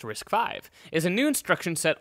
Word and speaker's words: RISC-V: So chapter one introduction uh risk 5 pronounced risk 5 is a new instruction